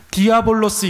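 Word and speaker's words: διάβολος: 여러분 사탄이라는 말을 헬라어로는 디아볼로스 이렇게 발음을 해요.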